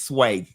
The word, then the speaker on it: swai: It's sway. A lot of the rebuttals to things people have to say to Ron DeSantis is, and the property taxes is still high.